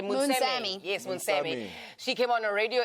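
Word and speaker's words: Moonsamy: Yes, Munsami.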